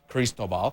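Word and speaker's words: Cristóbal: Uh, this is that's the Spanish pronunciation of this storm, Christobal.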